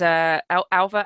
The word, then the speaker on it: Alva: So Alva is Alva and Mari are the way I pronounce those names.